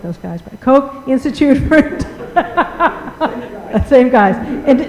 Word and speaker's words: Koch: say that you know like those guys but Koch Institute perfect same guys and they do some with integrity in Integrative Cancer Research dr.